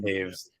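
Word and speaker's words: Toews: Devon Taves.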